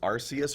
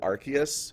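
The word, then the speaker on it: Arceus: me the most is arus or archus the the anime pronounces it archus but that's definitely a soft C there's no way like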